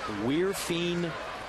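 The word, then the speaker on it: Wirfin: Now getting the official pronunciation of number 79. It's Weirfine Obispo.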